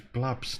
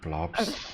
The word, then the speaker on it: Blubbs: it's Blubbs, not Blobs.